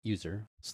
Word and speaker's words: usr: it says make sure that SL USR which I'll pronounce user looc bin is in